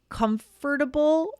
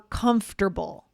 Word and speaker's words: comfortable: So, Aubrey, do you say comfortable or comfortable? Ooh, good question. I say comfortable. Okay. Comfortable. What about you? Comfortable. Same here. I don't say comfortable. Yeah, that takes too long again.